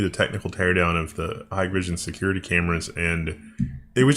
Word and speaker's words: Hikvision: I found an official company webpage that had an English pronunciation, and it was High K Vision. But, That makes sense. but then at like a trade show, somebody from there did not say it that way.